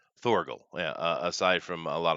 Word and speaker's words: Thorgal: Somebody says he's been reading Valerian and Thongle aside from what is that? Did I pronounce that right? Thorgal.